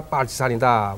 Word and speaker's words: 빨치산: 저거는 파티산 커맨드라고 그러는 건데 이 소련 발음으로 빨치산이라고 합니다. 우리도 빨치산입니다. 이 빨치산이라고 하게 되면은 북괴군 중에서도 가장 악랄한 골수분자가 빨치산이다.